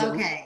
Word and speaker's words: Lokay: We are doing our very first ever video podcast with the amazing, how do you pronounce your name? Lokay.